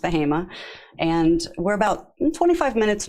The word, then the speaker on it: Bahama: a very rural area of North Carolina called bahima um spelled Bahama but pronounced bahima and we're about 25 minutes north of Durham